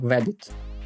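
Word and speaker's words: WABT: Binary Toolkit is pronounced as webit .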